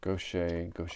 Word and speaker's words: gouache: Gouache, however we pronounced.